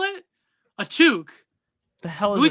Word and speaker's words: toque: A toque. The hell is we call it a beanie? How do you spell that? A toque? Like a TOOK. That's took.